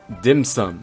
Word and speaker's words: dim sum: when Gaming says it, I made sure to do my best Cantonese. Dim sum. And on top of that, Keqing says it, and she's probably a Mandarin speaker, so there is a Mandarin way to say dim sum, and that's dianxing.